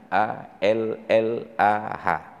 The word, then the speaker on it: Allah: Oh coba perhatikan dalam Kamus Besar Bahasa Indonesianya a l l a h Tapi bacanya wajib Allah sedangkan Romadhon memang tertulis